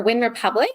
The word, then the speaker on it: Wyn Republic: but mostly running on there um and for win Republic it's spelled win Republic with a Y so w